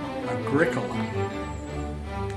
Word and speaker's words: agricola: Agricola is the Latin word for farmer. It has four syllables and is accented on the second syllable, much like curriculum.